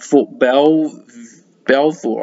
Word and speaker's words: Fort Belvoir: submitted from the US Air Force Base at Fort Belvoir, I think it's pronounced, back then.